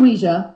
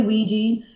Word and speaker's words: Ouija: of Ouija now you say Ouija am I mispronouncing or is there some kind of terminology there I should know about it's actually Ouija that's the that's the actual correct way of saying it people say Ouiji and once in a while I'll say that